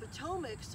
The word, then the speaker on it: Patawomeck: and mary so the potomacs or the potowamics as it's spelled but it's pronounced potomac um here you can